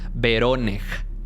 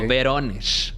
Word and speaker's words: Voronezh: Avistamientos de luces muy extrañas que la gente se quedaba viendo, específicamente en una ciudad que se llama Voronezh, así, o Voronezh, así, ¿no? Dependiendo de la pronunciación, en actual Rusia, a más o menos unos 500 kilómetros al sur de Moscú, hacia abajo.